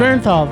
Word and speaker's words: Bernthal: You're putting too many uns. Too many syllables, man. Bernthal, thank you.